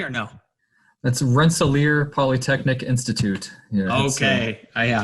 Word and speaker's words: Rensselaer: very happy to be with you did i pronounce that correctly or no that's rensselaer polytechnic institute okay oh yeah i don't want